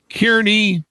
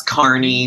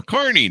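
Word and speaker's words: Kearney: was born he was born and raised in Kierney, Nebraska. Did I get that right, John? Did I pronounce that right? It's Carney, but it sounds weird. Yeah, there you go. Carney, Nebraska.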